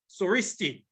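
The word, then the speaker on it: Συριστί: The Greek word for the Syrian language is soristi. This is the Greek rendering of 2 Kings 18, verse 26. This is the Greek, soristi. It is pronounced soristi, while the Greek word for the Jews' language is Judaisti.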